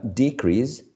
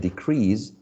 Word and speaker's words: decrease: uh contrast and contrast so whenever you are stressing the first syllable on these elements on these uh uh words we're using um the element as a noun and we are and when you are stressing the second part for example in number uh 15 uh decrease would be the noun and decrease the verb uh we have misprint